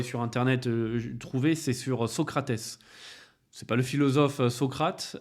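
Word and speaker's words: Sócrates: il appelé son fils socrat avec un s à la fin et en brésilien ça se prononce Socrates socratè était un joueur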